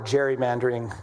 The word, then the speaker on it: gerrymandering: I was learn I learned how to pronounce that correctly. Is is uh the legislator from Massachusetts who uh gave rise to the word gerrymandering which is how we say it. His name was Gary.